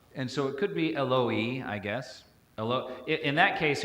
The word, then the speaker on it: Eloi: Well, in Aramaic, the way we pronounce Aramaic today, we would just say Eli, Eli. So that O vowel is kind of a mystery as to why it's in there.